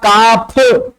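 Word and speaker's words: calf: कााउज़ पहले था काफ। इसमें एल साइलेंट होता है। पढ़ते नहीं एल को। काफ।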